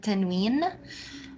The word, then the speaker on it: تنوين: The other kind of حركات, we call it tanween, from the word noon. We call it this way because we add the sound of the short vowel, the حركة, to the sound of noon.